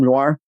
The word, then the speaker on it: noir: noir you're going oh it's uh it's like noir like film noir yes yeah thank you